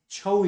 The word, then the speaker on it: Chhau: Chhau is actually Chhau. Chhau or Chhaya. That means shadow. So basically it is pronounced as Chhau, but it's originated from Chhaya.